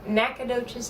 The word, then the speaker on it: Nacogdoches: how do you say your hometown texas again nacogdoches texas all right anytime we gotta bring that